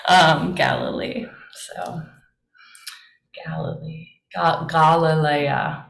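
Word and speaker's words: Γαλιλαία: Galilee so Galilee got Galilea would be the Greek pronunciation this one what who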